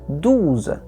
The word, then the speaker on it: douze: Chegamos no número 12, e 12 se diz douze. Lição de fonética, O-U. Em francês se pronuncia U. Então, douze, douze.